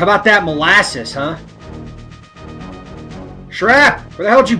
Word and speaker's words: Shrap: a while I always thought his name was sharp it's shrap how do you how do you pronounce sharp s-h-a-r-p his name is spelled shrap